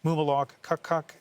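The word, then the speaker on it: Mumilaaq Qaqqaq: I talked to our bureau in a to get the proper pronunciation. to the NDP candidate Mumalok Kakk and that is a phonetic that I got uh just in case anyone's wondering where that pronunciation came from.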